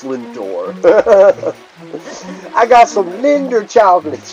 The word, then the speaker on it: Lindor: and Henry's world yeah Linder it's pronounced Lindor I got some Linder